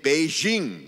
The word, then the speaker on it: Beijing: us radio and television pronounce the J in the name of the Chinese capital in the French manner even though the Mandarin Chinese sound that it represents is a good deal closer to the English pronunciation of Jay than to the French nevertheless they keep saying